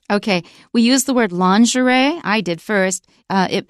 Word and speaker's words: lingerie: laundry and it's spelled l i n g e r i e l i n g e r i e in English we pronounce it lingerie it's pretty underwear for